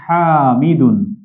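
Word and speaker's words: حامض: টকের আরবি জেনে নিচ্ছি হামিদুন হামিদ এই এটা কিন্তু দাল নয় বদ হামিদ এজন্য আমরা দর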